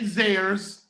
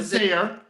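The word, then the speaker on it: Zayre: It's Ames and Zares. Yeah. Not Zaire. Yeah, Zares.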